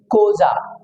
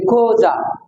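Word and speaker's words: Xhosa: দিয়ে for example x এই ও এস এই কোজা এক্স এই কিছু কিছু জায়গায় কো উচ্চারণ ভাই ক তাইলে খোজা খোজা দেন এটা উচ্চারণ হবে খোজা ওকে এই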